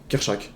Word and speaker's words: Kerchak: C'est quoi, comment on prononce son nom? Kerchak.